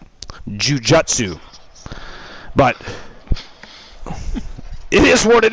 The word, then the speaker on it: Jujutsu: it's actually nun Jutsu just like Jiu-Jitsu in North America we spell it g i u j TSU it's actually juu j u TSU Jujutsu but it is what